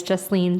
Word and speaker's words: Justine: again my name is justine my name is pronounced like just lean on me and a little bit